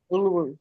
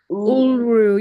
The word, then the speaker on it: Uluru: Uluru, yes. Uru? Uluru. Uluru.